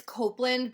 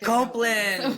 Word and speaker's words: Copland: her name is Dion Copland I'm pronouncing that Ray correct um yeah well it's Copeland but like Copeland okay uh like Douglas Copeland oh wow okay and